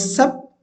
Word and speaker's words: sup: And the word sup also has often been changed to sip, but sup rhymes with cup and is clearly the reading in the first edition.